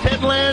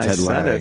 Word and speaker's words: Ted Lange: I'm saying Ted Lange. There's an E at the end.